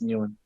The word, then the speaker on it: Nguyen: Because whenever people say, all the Australian people say you're saying it wrong, and then whenever people say new end, all the Americans say, man, you're saying it wrong. So for me, I just stick to what I know, and it's new end.